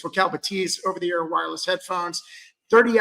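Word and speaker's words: Bathys: At $849, these are the Focal Batiz. By the way, it it looks like it's spelled bathies. Uh, but the French are a little bit different and so it's actually pronounced Batis. So, it's Focal Batiz over theear wireless headphones.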